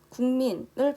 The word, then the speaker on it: 국민: 먼저 국민을 발음하다 보면 기역 받침인 국이 아니라 국민하고 이응 받침으로 발음되지 않나요?